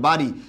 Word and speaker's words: বাড়ি: হ্যাঁ, বাড়ি, ব আকার ব বিন্দু র হবে, আর দীর্ঘইকার রস্যইকার হয়ে যাবে, বাড়ি।